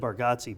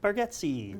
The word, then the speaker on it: Baretti: You know, I always said Barati, but I watched his special and his daughter introduced him and she's like, "My dad, Nate Baretti." There you go. So, I figured she's saying it right.